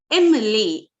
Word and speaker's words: MLA: a consonant, I agree, but how will you pronounce it? M-A, MLA, MP, SDO, A sound, it is a vowel sound. So, he is not A, MLA, but it is, the correct answer is an MLA, an MP, an SDO.